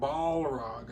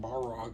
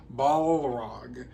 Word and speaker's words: Balrog: I said it right this time. Balrog. I know some people were kind of mad because I kept saying Balrog, but it's Balrog.